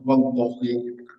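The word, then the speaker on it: وَاللهِ: Nah, semuanya harus dibaca kasrah. Wallahi. Itu cara bacanya.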